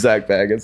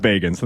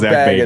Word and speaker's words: Bagans: I think his name's Zach Baggins. I think it's pronounced Bagans. I think Zach Bagans is his name.